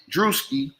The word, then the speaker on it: Druski: druski my bad I don't know how to pronounce his name droski dusi my bad druski okay my bad uh at some point during